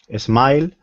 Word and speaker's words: smiled: Spanish speakers have to be careful about putting the S, Yes. the sound in front of the S's.